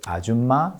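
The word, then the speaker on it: 아줌마: But Nakia's pronunciation of the word ajuma sounded a bit more like auma instead of auma, missing the last consonant in the second syllable.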